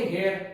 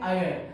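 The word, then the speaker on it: heir: लोग नॉर्मली देखो तो आप लोग पढ़ेंगे हेयर, पर एक्चुअली इसको पढ़ा जाता है, इसका प्रोनाउंसिएशन है आयर। तो थोड़ा आपको प्रोनाउंसिएशन के ऊपर में ध्यान देना पड़ेगा क्लास। आयर में पहला जो लेटर है वो अ है, इसका मतलब आयर में भले ही एच लगाया, ह का साउंड ना लेते हुए हम लोग काय का साउंड ले रहे हैं? अ का।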